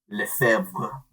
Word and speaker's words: Lefebvre: I was prepared to pronounce it this time. I had it right. It's Ixical. It's ANRILEFEBVRE. Lefebvre.